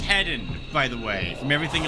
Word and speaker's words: Hedon: Now we are playing as you might have seen by the way on the hedonistic difficulty and it is pronounced heden by the way from everything I have seen now.